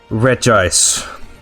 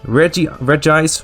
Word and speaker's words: Regis: On top of that, Regis, I almost want to say Regis. I know it's pronounced Regis.